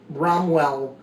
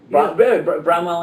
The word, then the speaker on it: Bramwell: represented and and to me the images of bromwell and uh did I say it right yeah Bramwell and Carla or Barnabas and Carland or whatever